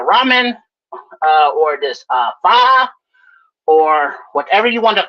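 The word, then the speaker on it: pho: So then fi faux f um he Yeah, it's it's called fa. I don't pronounce it fa. I pronounce it faux all the time.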